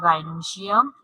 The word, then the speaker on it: gynoecium: Now, we are coming to the gynoecium. Okay, gynoecium. Again, I'm repeating. Please pronounce properly.